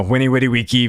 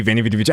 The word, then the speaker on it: Veni Vidi Vici: You know, Winnie Witty Wiki, Veni Vidi Vici, however you want to pronounce it, which basically just means like I